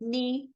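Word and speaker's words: know: silent ब फॉर एन अगर एन से पहले जी और के आते हैं तो ये क्या हो जाते हैं साइलेंट नी नोक नो नश एक्स की आवाज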